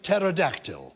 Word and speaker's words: pterodactyl: Do you mean as in pterodactyl? But why are you being klaxony? Is that not Greek in origin? It is Greek in origin. So it has a silent P because we don't pronounce the P.